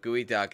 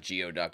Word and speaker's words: geoduck: it's Savory flavor yourself so not geoduck it's good why not just spell it gooey duck then Brody Lee Look